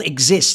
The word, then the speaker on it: XIZT: He's called Exist. He used to play for NIP, and it's spelled XIZT.